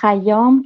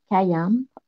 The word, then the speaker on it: Khayyam: Alors, Khayyam, que vous prononcez aussi en français Khayyam, Omar Khayyam, c'est Omar Khayyam.